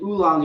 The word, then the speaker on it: oolong: a losing battle is saying oolong is w u not o o well does puerto have